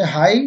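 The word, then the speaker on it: high: यदि अंत में जी एच आए तब भी जी एच साइलेंट रहता है। जैसे हाई मीन्स ऊंचा और प्लाउ मीन्स हल। इन शब्दों में लास्ट में जी एच आया है जो हमेशा साइलेंट रहता है।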